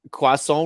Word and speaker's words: croissant: Anyway, Le that's croissant rhymes with poisson.